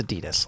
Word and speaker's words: Adidas: Like Adidas is the sponsor for the NHL, so all of the gear Do with you know it's pronounced Adidas? it's okay. It's Adidas.